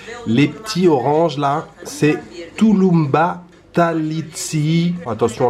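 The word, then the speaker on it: tulumba tatlısı: Les petits oranges là, c'est Tulumba Talitsi. Attention à la prononciation.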